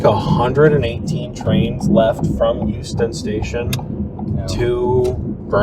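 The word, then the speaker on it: Euston: up to Houston Station and which is not spelled with an h no it's not it's it's Houston not Houston um e e s something it's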